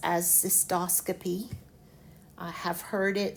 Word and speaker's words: cystoscopy: the root cyst and the first word I pronounce as cystoscopy. I have heard it cystoscopy but that bugs me. If your professor tells you to use that use that but to me it is cystoscopy.